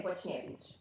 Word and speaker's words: Boczniewicz: As Europeans, we pronounce it Boczniewicz because it is a Polish last name. But from what I understand, a lot of people pronounce it Boczniewicz, but we say Boczniewicz.